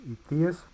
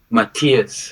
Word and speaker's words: Martiaz: And how do you pronounce that? Is Ethias? Matthias.